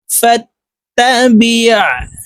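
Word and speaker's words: فاتبع: ফাইজা করনাহু ফাইজা করনাহু ফাত তাবিৎ বা আইন জের বিৎ আইনকে হলকের মধ্যখান থেকে চাপ দিয়ে উচ্চারণ করতে হবে।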